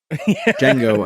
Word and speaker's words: Django: Oh, did I say Django? Django Unchained. The D is silent.